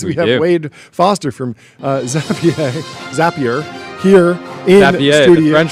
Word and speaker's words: Zapier: what did I call I called it Zapier like a rapier for a long time and then and then people were telling me that's wrong and so I started calling Zapier and then I learned that was wrong. But it's Zapier like Snapier, right?